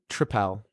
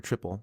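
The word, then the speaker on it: tripel: is a is is a Belgian tripal or triple depending on your pronunciation it's a Belgian triple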